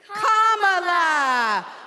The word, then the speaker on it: Kamala: do you pronounce it first you say comma like a comma in a sentence then you say la like la la la la la put it together and it's 1 2 three comma all right so let's